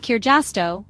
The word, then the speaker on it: kirjasto: Almost always the first syllable of the word is stressed. That's it. No complicated rules or exceptions to remember. For example, kaksi, 2, and kirjasto, library, are both stressed on the first syllable.